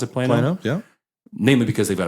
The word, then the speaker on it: Plano: Is that how you pronounce it? Plano, yeah.